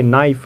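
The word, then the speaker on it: knife: Next word देखिए नाइफ। नाइफ means क्या होता है, चाकू। यहाँ भी आप देख सकते हो के बाद एन उसके बाद आई क्या है, वॉवेल है, इसलिए यहाँ हमारा के साइलेंट है।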